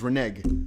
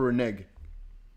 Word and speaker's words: renege: strange though reneg okay American is renege let's go for renege that means to go